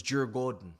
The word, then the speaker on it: Djurgården: Chelsea versus Jur Gordon. I'm going to start pronouncing this as the Swedish have told me to pronounce it for today because I'm going